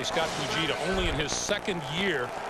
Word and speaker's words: Fujita: Scott Fujita, a linebacker, number 51, just gets there in time because there's a lot of space out in front of Tim Brown.